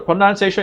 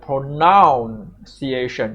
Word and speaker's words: pronunciation: We just pronounce it pronoun-ciation. It's not pronunciation, it's pronun-ciation.